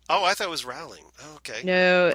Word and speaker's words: Rowling: Rowling," and so it's ingrained in my head how it's pronounced.